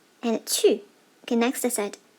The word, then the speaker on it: 去: Pay attention to the tone. The fourth tone here, let's see how to write it.